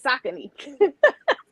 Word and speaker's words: Saucony: They tricked me. It's Saucony. But they let y'all say, they let us, because I was calling it that too. They let us say it wrong for a long time, and they finally was like, look, y'all, this ain't what this is called. This is how you pronounce this.